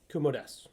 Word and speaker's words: Kumo desu: So, I am going to gush about Kumo-desu. Yeah. Kumo-desu. I'm used to saying desu. Unfortunately, that's not That's not correct. Kumo desu, because Yes. the U part is silent.